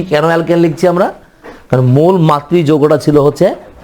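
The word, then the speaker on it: alkanol: অ্যালকানল।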